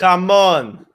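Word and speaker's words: jamón: How to no roll one those knows the correct way to pronounce it. Jamon.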